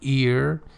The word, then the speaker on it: heir: Because even if for example you inherit some money as in as an ear h ei r you know h is not pronounced or beneficiary in order